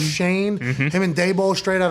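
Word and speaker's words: Schoen: shane right joe shane spelled shone pronounced shane him and dabo straight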